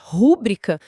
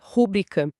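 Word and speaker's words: rubrica: Dizer rúbrica quando a norma padrão estabelece rúbrica.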